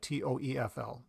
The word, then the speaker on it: TOEFL: t OE FL and I don't say Test of English as a foreign language normally people say TOEFL because if you look